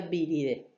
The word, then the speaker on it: viridae: o se escribe birde se escribe viridae y se pronuncia birde en el estudio de